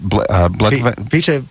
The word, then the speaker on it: Blegvad: And pronounce his name for me. His first name is Peter. Is it Blegvad? Peter Blegvad. Blegvad.